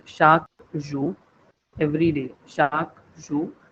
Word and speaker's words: chaque: For example, the word for every day in French, it says chaque jour. Every day. Chaque jour. This QUE, the pronunciation is like almost equivalent to K in English.